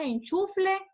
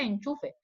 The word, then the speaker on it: enchufe: O también decimos enchufle cuando lo correcto es enchufe. Entonces estamos utilizando mal porque la gente me entiende. Yo digo, mira, el enchufle, pero en realidad no se dice así, se dice enchufe.